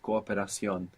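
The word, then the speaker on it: cooperación: you say cooperation could you pronounce both O's that was correct cooperation it just sounds a tiny bit longer no cooperation to cooperate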